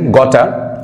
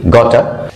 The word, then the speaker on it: gotta: আপনারা দেখছেন গটা, যে গটা যে ওয়ার্ডটি রয়েছে, গটা যে ওয়ার্ডটি রয়েছে GOTTA, গটা, এটা গাটা অর গটা এভাবে উচ্চারণ করা হয়ে থাকে।